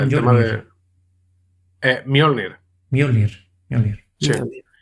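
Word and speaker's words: Mjölnir: La J, esto es una cosa curiosa. La H, en nórdico antiguo, se pronuncia como una J, pero la J, si va acompañada previamente de otra consonante, se pronuncia como una I, normalmente.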